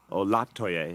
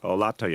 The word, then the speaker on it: Olatoye: Olatoye. It is the second syllable. No, you were good. You were closer than many. Olatoye.